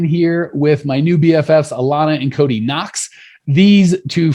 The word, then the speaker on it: Alana: Hey, Clean Nation, here with my new BFFs, Alana and Cody Knox.